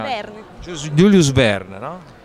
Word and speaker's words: Verne: Come si pronuncia? Verne.